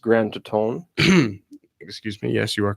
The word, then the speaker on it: Grand Teton: I This believe it's is, pronounced Grand Teton.